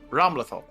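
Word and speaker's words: Ramlethal: flight has a question how do you pronounce Ram lethal it's ramlatho he's done it let's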